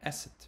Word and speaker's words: Eset: And Eset. Remember I told you that Isis means, the way you pronounce her name in Egyptian is Eset.